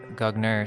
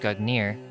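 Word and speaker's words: Gungnir: the past Nordic gugnir Old Norse gugner swaying pronounced gugnir is the name of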